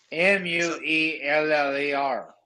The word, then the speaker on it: Mueller: school TVs Mueller not Mueller Mueller Mueller Mueller m-u-e-l-l-e-r right it's Mueller if you want to pronounce it but this is a family that